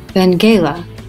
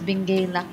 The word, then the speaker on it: Benguela: All right, so by the way, the pronunciation for that sightseeing spot is Benguela. Benguela. Yeah. Oh, Benguela. I said Benguela. This is how we pronounce, but this one is Benguela.